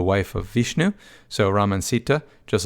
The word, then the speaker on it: Sita: the father does anyway sita is the wife of ram and by the way usually you don't pronounce the a on the end of some of these names i have a habit